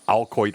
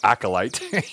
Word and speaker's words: acolyte: And of course, you never really hear the term alcoit or acolyte in normal speech. And I was about 3 weeks old, 3 weeks ago old, when I realized I was saying it wrong all that time.